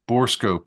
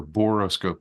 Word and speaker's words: borescope: scope, borescope or boroscope. They spell it differently, but Okay.